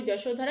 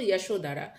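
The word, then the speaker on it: যশোধরা: Name কে যশোধারা যশোধা বাংলায় উচ্চারণ হবে যশোধারা ইংলিশে আমরা বলব যশোধারা বা তার আরেকটি নাম আছে কি গোপা ইয়াশোধারা বা গোপা তিনি কোন ডাইনাস্টির ছিলেন?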